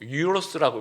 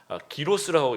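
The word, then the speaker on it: gyros: 그리스 햄버거라고 얘기하는 그 기로스라고도 얘기하고 유로스라고 막 이렇게 발음하는 것 알아서 좀 다른데요. 기로스라고 여러분 그 타코 같기도 하고 햄버거 같기도 하고 안에 이제 양고기 이렇게 들어가는 굉장히 맛있습니다.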